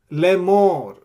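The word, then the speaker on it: לֵאמֹר: Vayvarech otam Elohim lemor. Aleph has no pointing, so basically you ignore Aleph. Lemor.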